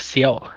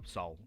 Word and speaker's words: Seoul: I thought it was Seoul. No, Seoul. It's just Seoul. Seoul. Yeah, the E is silent.